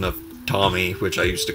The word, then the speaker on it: Tomy: I just found out the real pronunciation of Tomy, which I used to call it, but it's Tomy.